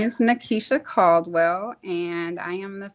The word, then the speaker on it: Nikisha: And Nikisha, am I pronouncing your name correctly? Yes, you are. Oh, thank you. My name is Nikisha Caldwell, and I am the founder of the Lab Med Spa and Wellness.